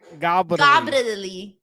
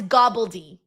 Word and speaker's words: gobbledygooker: Oh, it's gobbledy. Gobbledy, yeah. You gotta say it like that.